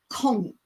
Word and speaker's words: conch: and you want to be admired call it conk they will be amazed that there's actually a